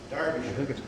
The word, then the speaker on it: Derbyshire: Derbyshire.